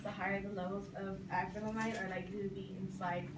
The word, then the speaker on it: acrylamide: And lastly, it also is a carcinogenic, basically meaning it has a cancer-causing chemical in it known as acrylamide. That's how you pronounce it.